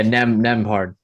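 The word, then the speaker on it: Nembhard: Yeah, Nemhard, That's how you pronounce it. Andrew Nemhard.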